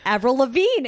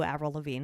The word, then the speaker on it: Avril Lavigne: talented the wickedly talented avril lavigne it rhymes with the deltazine oh my god it